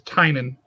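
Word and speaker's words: Tynion: the uh the james tinney and although i've heard his name is tynan is how he pronounced it uh book department of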